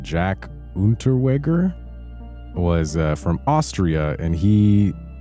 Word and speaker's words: Unterweger: Yeah, there was I don't know how to pronounce his name. Jack Unterweger was from Austria, and he committed murder in Austria, West Germany, Czechoslovakia, and the U.S. Unterweger.